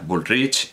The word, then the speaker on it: Bullrich: escritora silvina bullrich dudaba sé pronunciarlo a la catalana a bullrich pero todo el mundo decía woolrich y todo el mundo